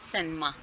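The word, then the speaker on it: cinema: सैनिमा, सी आई पे या फिर आई पे स्ट्रेस होगा और निमा पे नहीं होगा, ठीक है।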